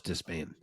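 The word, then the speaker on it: Despaigne: Is it pronounced Despania like that? No, or the Spain, they were saying. They actually made the point that he specifically told them to Americanize it. They were literally saying Robelis Despain. And they said, just so you know ahead of time, he told us to say it this way.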